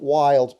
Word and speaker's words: Wilde: This is from Wild Pickups. Okay, it's spelled Wilde.